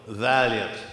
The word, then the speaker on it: Vaillant: the program suggests, and my name is pronounced like the old automobile, Vaillant, even though it's not spelled that way.